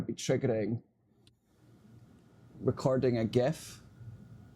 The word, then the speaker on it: GIF: And we're going to be triggering recording a GIF. Some people pronounce it a Jeff.